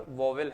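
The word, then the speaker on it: vowel: इसी क्रम में अगर हम आगे बढ़ें तो इंग्लिश में हम इसे क्या कहते हैं, वॉयल। कुछ लोग प्रोनाउंसिएशन इसका वाउल करते हैं, पर वॉवेल है जो सरलता ढंग से आप समझ पाएं।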